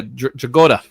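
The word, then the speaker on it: Dragotta: I'm curious to see what you think of the new art in Absolute Batman compared to Dragola. Is that how you say his name? Yeah, Dragoda.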